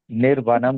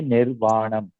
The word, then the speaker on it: निर्वाणम्: हाँ निर्वाणम is liberation, वही correct है, निर्वाणम आत्यंतिकम, तो इसमें जरा करेक्शन ज्यादा है, निर्वाणम आत्यंतिकम, निर्वनम नहीं है, निर्वाणम आत्यंतिक, ये दोनों word, last to word in the last line is also wrong, निर्वाणम आत्यंतिकम।